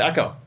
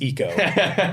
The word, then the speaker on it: Eco: it's like an api no it's echo no no it's eco you don't pronounce ecoboost and echo sport differently because of your intention uh our video one